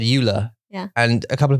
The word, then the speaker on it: Ula: isn't it yeah right but you said it's Euler u-l-a which actually is like